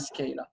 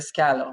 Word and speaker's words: Scala: developed by java and scala a scalar or whatever scalar i think is a better pronunciation but i mean you